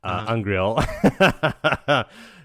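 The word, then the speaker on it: angreal: And she has her little turtle brooch, is the pronunciation, Angriel.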